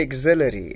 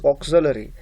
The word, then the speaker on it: auxiliary: first thing is exponentiation some students mispronounce this word they say auxiliary auxiliary is not the exact or correct pronunciation the correct pronunciation of this word is auxiliary like august right like uh